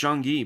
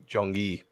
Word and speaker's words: Jung-gi: I can't pronounce the guy's name, but Jung-gi. Yes. Yes. His first name is Jung-gi, by the way. Jung-gi.